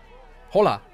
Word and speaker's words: hola: try to speak Spanish hola oh my god hold on Sombra from overwatch yeah Sombra from overwatch I do know some Spanish okay let's see if we can the H is silent in Spanish why I don't know